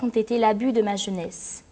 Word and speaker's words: jeunesse: Si les vers ont été l'abus de ma jeunesse, le E final du mot jeunesse ne se prononce pas.